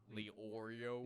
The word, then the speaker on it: Leorio: So it's like Arrow. It's like Lee and Oreo. Leorio.